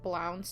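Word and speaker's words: Blount's: It's called Blance disease. So, it's spelled B L O U N T apostrophe S and you can look it up.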